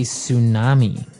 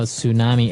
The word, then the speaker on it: tsunami: they may have a tsunami. Well, this doesn't sound very English, does it? I know, tsunami. And actually, if you see the spelling, it's with a T, TS.